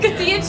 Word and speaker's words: cotija: cotija cheese, cotija. Not cottage. It's not cottage cheese.